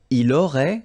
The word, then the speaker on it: aurait: Il aurait, same thing here, final T is not pronounced, elle aurait, okay?